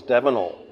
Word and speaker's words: Davnell: like to first ask what is the correct pronunciation of your name my name my full name is davol davol um my father was a